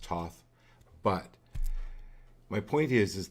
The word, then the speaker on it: Thoth: it was taken supposedly to Egypt uh by Thoth the uh the leader of Atlantis and a lot of times you've seen me use the Thoth deck it's actually pronounced Toth but my point is is the black pillar